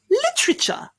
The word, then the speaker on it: literature: just mean make it louder lit richer literature literature congratulations that's perfect literature the next and final